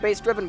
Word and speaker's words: bssdrvn: It's pronounced bass driven, but it doesn't look like that. But that's what I get for not putting vowels in my name.